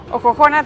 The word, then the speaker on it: Ojojona: Juan de ojojona y dicen que en realidad tiempos atrás el nombre original era Como si fuese jojona pero con x soxona pero al pronunciarlo decían jojona y bueno con el